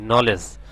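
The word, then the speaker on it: knowledge: আমরা আরেকটা দেখতেছি কে এনও ডবলিউ কি সাউন্ডটা সাইলেন্ট থাকবে কেনড ন এ লে ডিজি নলেজ নলেজ অর্থছে কি জ্ঞান তার মানে এখানে আমরা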